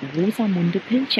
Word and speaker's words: Rosamunde Pilcher: We pronounce it German, Rosamunde Pilcher.